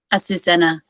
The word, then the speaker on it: Azucena: Asusenna. Asusenna. Ausena. Okay. So, thank you so much, uh, Anna Asusenna for being our second guest on the Energy Podcast.